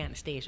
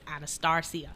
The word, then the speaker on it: Anastarcia: Because most people want to say Anastasia, and she's like, no, it's Anastarcia.